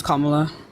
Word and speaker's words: Kamala: will have a better uh military standpoint than Kamala will that's not how you pronounce her name it's Kamala I said and also and I said her